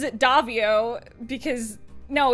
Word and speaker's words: Daviau: Hi, I'm Daviau, or as everyone pronounces it, Daviau, because, no, it's pasta.